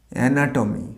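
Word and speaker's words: anatomy: অ্যানাটমি। আমরা অনেকে অ্যানাটমি বলি, শবচ্ছেদ বিদ্যা।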